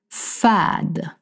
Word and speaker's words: fade: means test and then the last one is fad. Fad means blend and it spell exactly like to fade fad blend.